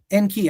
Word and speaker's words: Enki: eni's name en key I say it like that I say it like that because it means lord earth lord earth so He's um uh Lord Earth uh is in the Aadian.